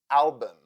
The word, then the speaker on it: album: U as sound like in the word album the second syllable in this word is unstressed and that is why u sounds like uh therefore u u u u album campus the second syllable